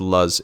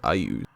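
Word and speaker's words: Iuz: Or sorry, I keep reading it as Luz. It's pronounced Ayuz.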